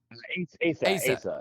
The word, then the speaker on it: Asa: I noticed there was a post with MANBABY, and I noticed that Asa, who is that pronounced right? Asa was Asa.